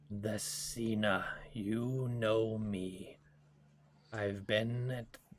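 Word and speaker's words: Thasina: cena what it nope this one's easier to pronounce nope yeah that's cena there we go t-h-a-s-i-n-a which is her name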